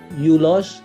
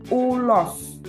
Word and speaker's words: ulos: ulos Coba diulang ulos yulos yulosulosulos pertamanya memang menggunakan huruf u yu tapi dalam bahasa Indonesia kita membacanya ulos u ulos u ulos ulos nah ini sering dipakai